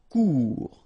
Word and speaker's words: Court: Final T not pronounced. Court. Remember, when you combine this O and U together, you get the sound OU.